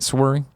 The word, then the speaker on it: Swery: And that's how you say it, Swery. Swear, yeah.